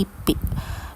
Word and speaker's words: LIPI: Lalu lipi di sini sama juga ee artinya Lembaga Ilmu Pengetahuan Indonesia diambil huruf awal setiap katanya ditulis dengan huruf kapital dan tanpa titik pengucapannya digabung langsung lipi.